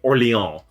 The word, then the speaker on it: Orléans: Orléans.